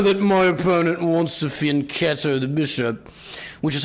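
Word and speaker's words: fianchetto: chess I know that my opponent wants to fin ketto the bishop which is how it's pronounced by the way in today's video we're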